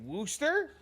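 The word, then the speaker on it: Worcester: So it's like Wchester, but it's pronounced Wooster.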